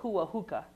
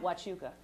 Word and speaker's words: Huachuca: One guy told me he wanted to know something about Fort Huahuca. I was like, you ain't from around these parts. He meant Huachuca.